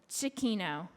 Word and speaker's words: Cicchino: So I'd like to introduce our first speaker for the day, Jessica Cicchino. And Jessica, did I pronounce that right? Cicchino.